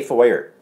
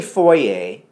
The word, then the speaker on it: foyer: out west they don't out west they say foyer in Canada we say Fourier and I think we may have mentioned this before it's because of our proximity to Quebec that was the one